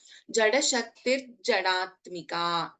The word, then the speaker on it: जडशक्तिर्जडात्मिका: But since we are chanting together, this will become a Sandhi and it is pronounced as, or it is chanted as Jada Shaktir Jadatmika.